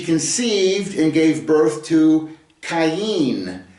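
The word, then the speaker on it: קין: Vav uh and she conceived and gave birth to cayenne is the way it's pronounced in the Hebrew. Uh it's a kof yod final noon kain.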